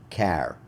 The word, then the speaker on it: char: single quotes and this I've heard a lot of people pronounce it different ways because they're called characters I've heard people call them care or or car I I've known them as chars so char letter is